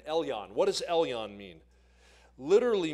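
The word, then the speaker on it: Elyon: o n l yon e l yo n Elon what does Elon mean literally means possessor of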